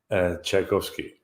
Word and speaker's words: Tchaikovsky: Please pronounce it one more time. Tchaikovsky.